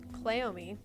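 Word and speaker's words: Cleome: is a plant and it is called clomi you can look it up it is spelled CLE e o m e clomi and it is a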